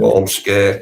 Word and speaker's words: Ormskirk: The was it Ormskirk? Is that how you pronounce it right? Ormskirk. Ormskirk, yeah.